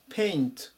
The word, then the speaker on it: paint: 7 787 番ペイントペイント発音に注意ですね最初のところでパっていう風に読まないように気をつけましょう同士で絵の具で